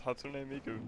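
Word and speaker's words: 初音ミク: It's So I've Hatsune. always said it how I thought it was said. It's Japanese. It's Hatsune Miku.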